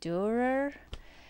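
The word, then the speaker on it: Dürer: And then I found this book about, this is how you pronounce Durer.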